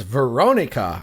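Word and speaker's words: Verónica: talk about which is Veronica and I'm going to put the accent on the o cuz there's the accent on the o and that's the way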